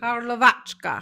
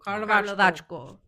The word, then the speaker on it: Karlovačko: But Karlovačka. Karlovac. Karlovac. Ko or ka? Is it an O or an A? At the end? Oh, Oh, Karlovačko. Karlovačko, yeah.